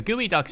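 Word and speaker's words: geoduck: this for some reason real life gooey Ducks exist spelled like this instead of the morph phonetic spelling use in Rain world and they're the weird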